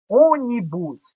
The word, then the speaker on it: ônibus: Ônibus é onibus. Perceba que a sílaba tônica é o.